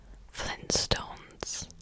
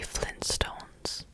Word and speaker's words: Flintstones: really really surprised me different Stones as two T's wait if you're pronouncing it without that first one but this is really awkward now wait so Flynn Flintstones Flintstones I've been also saying Flintstones definitely Flintstones now now I've read Flintstones